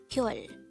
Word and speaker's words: 별: dejango word number 162 this is pronounced as a one-syllable word pronounce it with me pure pure the word pyol is simply the korean